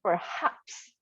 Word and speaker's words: perhaps: This one we say perhaps. Like haps. Okay, perhaps.